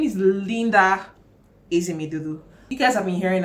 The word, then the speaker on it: Ezemedolu: Hi guys, Linda Ezemedolu here. Welcome back to my channel. In case you are new here, thank you for clicking on this video. My name is Linda Ezemedolu.